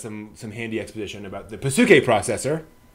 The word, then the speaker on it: Psyche: And gives us some handy exposition about the Pasuke processor. Not Psyche. Pasuke.